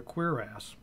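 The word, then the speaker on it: cuirass: if we look for example at this leather queer ass i could just apparently that's how it's pronounced sounds almost still dirty sanding but that's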